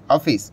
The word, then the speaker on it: Awfis: एडब्ल्यू एफ आई एस ऑफिस तो अभी इसका जो प्रोनाउंस है ऑफिस करके मतलब ऑफिस टाइप का ही हम लोगों को नाम